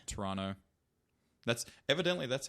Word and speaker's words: Toronto: toronto would be good do not ever pronounce the second t toronto that's evidently that's how